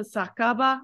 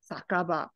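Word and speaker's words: 酒場: sake you would assume it's okay but actually pronounced a sakaba I have no idea why but you're right that is sake and ba but sakaba for some strange reason foreign to to to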